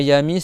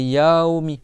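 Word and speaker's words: يوم: Yaomi c'est pas c'est pas yami c'est yaomi. D'accord. Tu fais un A et après avec un Y après un W.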